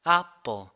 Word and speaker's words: apple: 그 애플이 아니라 apple. 아와 에의 중간 발음이 이렇게 들리시게 발음을 할 수 있어야 됩니다.